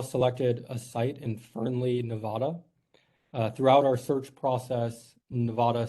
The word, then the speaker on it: Nevada: And this is really important to people that live in Nevada. That we really like it pronounced Nevada, not Nevada.